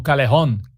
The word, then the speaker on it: Callejón: 247 um dos César calejón callejón nessa lista a pronúncia em estilo espanhol né É aqui ó esse aqui é o artigo do calyon estava agora na Manchete